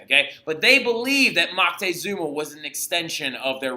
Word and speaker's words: Moctezuma: It's Moc, M-O-C, Te, Zuma. So Moctezuma, right? Mocte or Montezuma, depending on who you ask or how you want to spell it. You can spell it either way. It might pop up on the test as either or. So if you see Monte or Mocte, it's the exact same thing, okay?